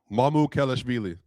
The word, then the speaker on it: Mamukelashvili: Mamukelashvili. Yep. Mamukelashvili. Make sure y'all say that and pronounce it correctly.